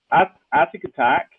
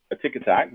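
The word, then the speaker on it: Atic Atac: We we'll uh very simply right atic attack which is spelled with one T. So that's probably the reason why people sometimes pronounce it a tick attack.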